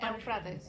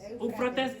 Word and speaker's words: Eufrates: pastores saben, que entonces, the Euphrates River, o Eufrata, how you say it? Eufrates. Eufrates, thank you.